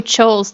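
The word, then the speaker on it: Scholes: named black and ches oh choles that's how you say it Fisher black and Myon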